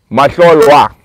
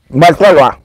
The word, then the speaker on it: Matlolwa: Matlolwa. Matlolwa. Is it Cholwa? Lolwa. There's an LWA at the end. Oh, I thought it was just Wa at the end.